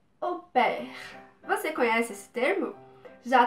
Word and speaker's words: au pair: Vamos começar então falando sobre a pronúncia correta é essa, então au pair, A-U. Em francês vai ter esse som de O, por mais que a